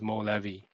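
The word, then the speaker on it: مولوی: So he's famous as movi. Now Movie is the way the Persians pronounce Mevi.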